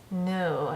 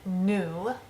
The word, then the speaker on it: nous: The word we, nous, comes in front of a vowel. The S that we don't pronounce becomes a Z sound.